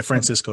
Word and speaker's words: Francisco: But the truth of the matter is, Francisco, I'm pronouncing your name correctly, right? Yeah, Francisco, yes.